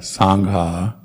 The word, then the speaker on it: sangha: and then try to pronounce all the h's so dhamma buddha sangha of course when we're going full speed through these chants uh we uh we often just sort of slide through it without pronouncing h's but due to try to pronounce the h's that will be the correct way to do it and then another difficult